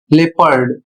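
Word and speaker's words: leopard: यहां पर आगे लिखा है और ओ साइलेंट हो जाता है। जैसे उदाहरण के माध्यम से समझिए। यहां पर लिखा है एल ई ओ पी ए आर डी और इसका उच्चारण होता है लेपर्ड और इसकी हिंदी होती है तेंदुआ।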